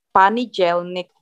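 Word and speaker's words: понедельник: Senin, Panijelnik. Jadi O-nya jadi A. Panijelnik. D-nya jadi J. Panijelnik.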